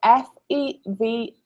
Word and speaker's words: Fevre: Yes, Fever Dream, but fever is spelled F-E-V-R-E.